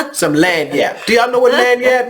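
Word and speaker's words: lagniappe: Lanyap.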